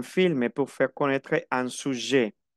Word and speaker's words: sujet: Un documentaire est un film pour faire connaître un sujet. no pronuncio la T final de sujet.